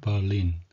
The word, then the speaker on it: Berlin: 베를린이 아니고 영어로는 버린. 우리 햄버거 할때 햄버거 이런 ER은 어 발음이라서 버린이 되겠습니다.